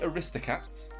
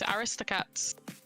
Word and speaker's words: Aristocats: Katz why I just I pronounce Aristocats no Aristocats what emphasis was on wrist Aristocats there's just no